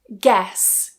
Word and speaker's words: guess: Guess guess vague vague. So even with that gue combination towards the end of the word, it is still a silent u.